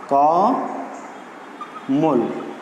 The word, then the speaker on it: কমল: যেমন কমল একটি শব্দ আছে, কমল। তো কমলের শব্দের সঙ্গে অ আছে, আমাদের উচ্চারণ হওয়ার কথা ছিল এরকম কমল, কিন্তু সেভাবে আমরা উচ্চারণ না করি, আমরা উচ্চারণ করছি কিভাবে? এইভাবে কমল।